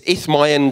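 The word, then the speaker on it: Isthmian: the isma games and I can't pronounce it look it up yourself it's ith Myan games thank you and um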